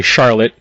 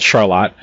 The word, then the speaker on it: Charlotte: pronounce it avon uh the same way most people say charlotte uh out here it's called charlotte and where most people